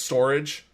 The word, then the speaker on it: Storj: is called storj now I know they're trying to have you pronounce it phonetically and say it's storage but it's pron but it's spelled s o r J therefore it's going to be store J until they start obeying grammar are we going to